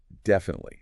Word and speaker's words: definitely: And definitely stress on deaf. Definitely. Not defunit. Leaf. That middle eye is super short, almost swallowed.